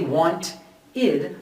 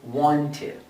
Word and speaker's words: wanted: the pronunciation is wanted we're not going to say want id but rather wanted wanted and our second